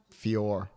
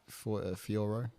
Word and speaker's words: Fiorot: I like how they say her name. Fior. It's not Fioro.